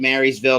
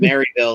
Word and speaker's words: Marysville: And I'm making sure to say it right, Marysville, because Rob Knox just called me out and calling it Maryville last week.